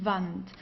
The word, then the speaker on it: Wand: W, okay, we pronounce it as V, die Wand, die Wand. Okay, so we don't have something like in English like woo, like wall. We don't have this. We say Wand, okay, Wand.